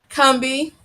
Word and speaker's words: Combahee: Again, guys, the name of the book is Combee, Harriet Tubman, how do you pronounce that word? Combee. Oh, okay. Combee and Black freedom during